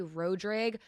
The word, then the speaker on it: Rodrigue: So like currently I say ra-drege because that is what I was like raised saying because that's like the very country Cajun way to say it.